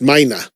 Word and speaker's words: Meine: Is it Klaus Meine or Klaus Meine? He pronounces it, and I've heard it pronounced Meine. Okay, I don't want to pull a perk. Even though there's not an A out at the end of it, I've heard him pronounce it like that.